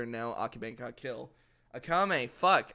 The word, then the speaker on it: Akame: Akame, fuck. I keep wanting to pronounce the K as a G, and I don't know why. Agamic. Agame Gok It's because Kill.